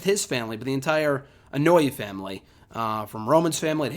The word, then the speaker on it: Anoa'i: I always call it Anoa'i. I always got that wrong, but it is Anoa'i.